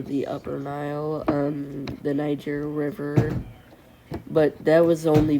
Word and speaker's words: Niger: It's pronounced Niger. Um, so yeah, they know as far down as areas of like northern Ethiopia, the southern Nile or the upper Nile, um the Niger River, but that was only because of the